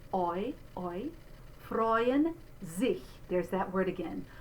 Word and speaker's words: freuen: So we're going to do this EU spelling as this diphthong. Oi, freuen sich. There's that word again. Mein Leib und Seele freuen sich in dem lebendigen Gott.